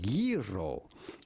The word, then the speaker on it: gyro: Yi, the G is not pronounced like a G in Greek. Simply say yi, and then ro. You do want to roll your R rather strongly. Yiro, yiro, yiro.